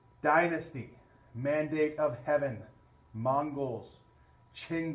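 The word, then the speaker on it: Qing: Mandate of Heaven Mongols Ching dynasty remember that Chang is spelled q I ng Ching dynasty was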